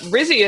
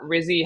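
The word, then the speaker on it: Rizzi: pick for head coach it would rhyme with fizzy but I think he's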